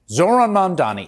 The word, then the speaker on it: Zohran Mamdani: This time, we're going to talk about, and let's all pretend that we know how to pronounce his name. Help me. Zohran Mamdani.